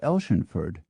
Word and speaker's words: Athelstaneford: Athelstaneford in Scotland can be pronounced as spelled or as Elshenford, and at least one